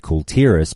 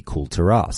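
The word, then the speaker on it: Kul Tiras: nation of Kulturas, which, depending on your pronunciation, now it's said Kultiras, but back in the day it used to be Kulturas.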